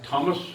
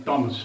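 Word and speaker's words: Thomas: याद रखें उच्चारण इसका थॉमस नहीं है, स्पेलिंग थॉमस है, लेकिन उच्चारण टॉमस है.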